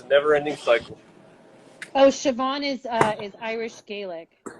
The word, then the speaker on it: Siobhan: you say that oh that girl's name is siobhan that's how you say it yeah it's pronounced siobhan yeah it's what kind of name is that